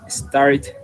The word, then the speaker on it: started: Esa sí se pronuncia con it. Recuerda que los verbos que terminan en T y en D se pronuncia como it, S-E-D, entonces sería started. ¿Ok? Si es American, started, right? Or started British. ¿Ok? Both are possible.